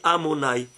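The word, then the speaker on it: Adonai: Il s'écrit Yudkevavke, mais il se lit Amonai.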